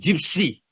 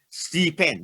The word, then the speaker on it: GIPCN: infection prevention control network i don't know why but it's pronounced gypsy you know so don't i've heard what people call it c-pen no it's not cpa